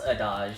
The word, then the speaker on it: adage: But you know the adage, the old adage, people who can't do teach. And I try to give my professors the benefit of the doubt. However, that how do you pronounce adage?